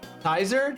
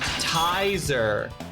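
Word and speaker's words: Tizer: It is not pronounced like taser with an I. It's pronounced tiser.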